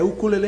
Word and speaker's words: ukulele: A pronúncia correta é ukulele mesmo.